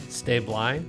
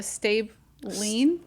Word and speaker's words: Stablein: stablein stabling how do you say it George stay blind stay blind listen we're we're so dysfunctional my own family argues how you pronounce our last name that's awesome we'll go with stab line now there's somebody on here that I know